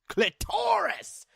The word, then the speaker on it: clitoris: to masturbate her exposed clitoris. That's how fucking Gilbert Gottfried would say it, but I'm gonna be a normal person and say it as its proper pronunciation.